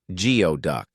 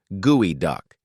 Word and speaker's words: geoduck: And despite the spelling, it's not pronounced geod duck. It's pronounced gooey duck because of course it is.